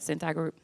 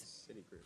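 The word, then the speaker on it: Citigroup: ETS and centa group did I say it right Cent group is City Group City Group oh my bad I'm okay City Group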